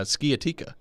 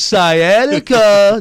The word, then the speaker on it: sciatica: coming after me about saying uh skiatika and not properly pronouncing sciatica hey dummy it's sciatica duh come on robbie gosh